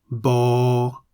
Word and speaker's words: บ: The Thai consonant Bhai Mai sounds like a B at the beginning and end of a syllable. Bo.